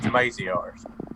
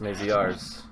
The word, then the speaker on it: Maziarz: It's Maziarz, long A. Oh, I said it wrong. Maziarz. Easier. Not RS. You're close. AZRs. Maziarz. Just Maziarz.